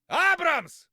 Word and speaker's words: Абрамс: Абрамс! Abrams! I mean, it's Abrams. Of course, the pronunciation is a bit different in Russian, but they get it quite right.